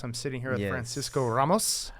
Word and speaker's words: Ramos: Ramos. Ramos. Depends on how angry I am at you. I think how hard I roll that R.